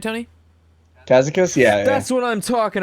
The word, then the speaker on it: Kazakus: Kazakus?